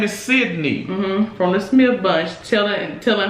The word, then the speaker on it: Sydney: Did I say it right? Sydney? Yes, because people are even messing up this woman's name because he's so busy disrespecting her, calling her Cindy, that people are confused that her name is Sydney.